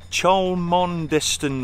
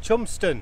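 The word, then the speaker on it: Cholmondeston: actually belongs to david charlemon distant lock but that's not how it's pronounced we're going to have the proper pronunciation in a minute proper pronunciation of this lock oh it's chumpston jumpstart thompson lock we're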